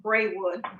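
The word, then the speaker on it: Braywood: president mr gregory uh just going forward is pronounced bray wood oh great wood just for everybody's information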